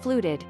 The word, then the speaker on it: FLUTD: Pronounced fluted, feline lower urinary tract disease or FLUTD refers